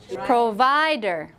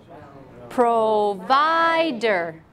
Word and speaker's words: provider: Our middle syllable, the middle one, we say provider. Provider. Provider. Not provider. Not provider. Provider.